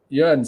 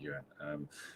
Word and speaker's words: Jörn: Jörn says, always love your shows, but know your aim for perfection is my name is pronounced with a Y.